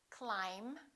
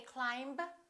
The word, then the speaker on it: climb: lot of students mispronounce let's start with the silent b climb we don't say climb we say climb debt don't say debt